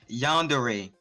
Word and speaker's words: yandere: Act like it has an A instead of an E on the end of it.